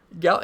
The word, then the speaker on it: Gallen: It is Gallen, so we're good to go. I thought it was. But anyway, Gallen, he's a good pitcher.